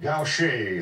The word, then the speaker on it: Gauche: Years ago, I think it was about 1967, a fellow named Robert Gauche, I guess that's how you pronounce it, G-A-U-C-H-E, something like that.